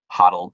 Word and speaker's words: HODL: Maybe they both said it, but yeah, that's the only, like, that's where I get the HODL from, is that it rhymes with bottle.